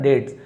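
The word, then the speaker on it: debts: ये डेट यानी होता है यहां पे बी को नहीं पढ़ते। साइलेंट होता है ना डेट्स।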